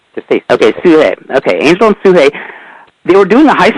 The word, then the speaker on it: Sugehit: Am I saying her name right? Sugahit? Yeah, Suhei. Suhei. Okay. They spelled it Sugehit. Yeah. I thought it was spelled differently, but yeah, they spell it like 7 different ways. Okay, so the way they spelled it, I thought her name was Sugehit. Yeah, just say Suhei.